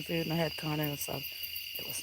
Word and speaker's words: asada: Carne asada. Because that's how you say it, asada.